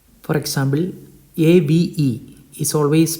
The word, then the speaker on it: Ave: So the first letter is English letter A and it is A in Italian and it is always pronounced in Italian as A. So it is not Ave but it is Ave.